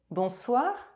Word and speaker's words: bonsoir: O is nasalized and N is not pronounced. Bonsoir. Bonsoir.